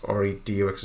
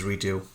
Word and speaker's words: Redux: Yeah, but you can't pronounce R-E-D-U-X as redo or redo. I don't know, maybe you can't. It's Redux. It gives a shit. Let's just go. Fox isn't pronounced faux, so we're going with Redux.